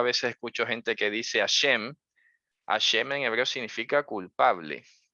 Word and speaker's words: Hashem: vas a decir Hashem, alguno dirá, es que la H no se pronuncia. Claro que se pronuncia, ¿cómo que no?